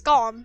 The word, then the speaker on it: GOLM: which is of course gom much to his surprise this ends up being pronounced like gollum anyway not if you're